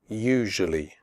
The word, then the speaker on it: usually: adventure future nature usually the first you in usually is pronounced like the word you the S is pronounced like a jerk in television usually tough the word tough